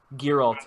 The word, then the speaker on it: Geralt: Am I saying that Geralt. right? Geralt. Hard G. Geralt.